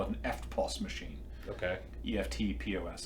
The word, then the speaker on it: EFTPOS: EFTPOS. But they don't pronounce the T. No, they don't. Right? They're just like, yeah. Do you do FPOS?